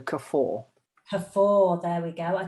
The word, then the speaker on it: Kafoa: Pretend there's an R on the end, so Kafoa.